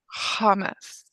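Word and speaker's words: חמץ: Which syllable do we pronounce accent? The second. All right. Od palm. Once again, how do we say it? Hamas.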